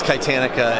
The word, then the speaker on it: Kitanica: No one would say it right, so we spell it with a K. One, it looks cooler, and it sounds right phonetically.